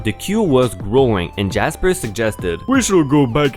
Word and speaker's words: Jasper: We will call them Jasper, pronounced Jarsper, also posh, and Anne, who also looks so done with Tiffany BS.